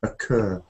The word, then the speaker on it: occur: The stress is on the second part. Occur.